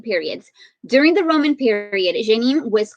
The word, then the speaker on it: Jenin: in ancient times, but now it's called Jenin. And I'm not sure why I said that with a French accent, but that's how, when I went to how do you pronounce this, that's how the lady said it. So Jenin.